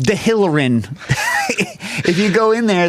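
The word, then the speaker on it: Dehillerin: If you go to Chez Georges, which you definitely should, go nearby to Ed Delrin, the cooking store. Yeah. Are they still open? Yeah. It's pronounced De Hillerin.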